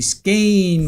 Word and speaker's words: skein: Skein rhymes with rain.